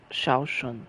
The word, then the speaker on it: Zhao Shun: So, Shaoshun, that's how you say it.